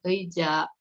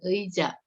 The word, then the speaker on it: 의자: Nah, ini 의자 ya. Si ei ini kalau di depan dibacanya ei. Kalau di tengah-tengah itu bisa jadi e ya. Kamu lihat aja yang kalau di depan itu ei ya.